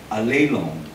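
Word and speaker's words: ἀλλήλων: That is a Greek word pronounced as Allelon. Okay? Para sa Batanggay niya, Allelon! Yung L-O-N, ang pronunciation niya, long. Sabi niya, long. Tapos yung accent sa second syllable, parang alay. Alay. Allelon.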